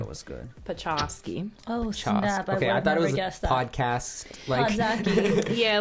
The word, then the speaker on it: Podczaski: think that you know but you so it's like just think polish right yeah cz goes Chuck and then ski like the cha yeah why we're saying